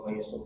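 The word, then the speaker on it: الرميصاء: Antum kalau rumaiso pasti ingat Ustaz Muhammad Abduh ya ketua isikal hafidahullah atau dibacanya pakai gin boleh alghumaisah. Boleh dibaca pakai ro, boleh dibaca pakai ghin. Rumaiso atau ghumaiso.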